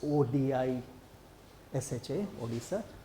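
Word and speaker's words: Odisha: Um, now of course this is spelled a bit differently. It's odi s ha oisa.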